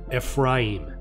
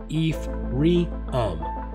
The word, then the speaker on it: Ephraim: even say it right it's pronounced phonetically the way it's spelled fim but most of you say it e reum somewhere on the telephone